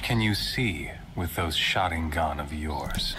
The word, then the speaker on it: Sharingan: Sharingan. Sharingan.